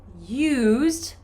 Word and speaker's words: used: In this case, it's more of a Y consonant sound. So we say a used car.